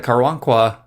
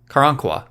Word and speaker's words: Karankawa: the precursors to the texas rangers after the karwankwa i think i pronounced that right karankawa yeah karan kua after the karangkwa repeatedly attacked